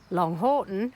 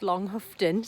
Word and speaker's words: Longhoughton: So, now I am going to head to the nearby village of Long Horton. I think it's actually pronounced Long Huftton. So, apologies if I'm saying it wrong.